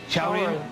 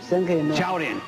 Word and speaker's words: 超人: Chaorin? Chaorin.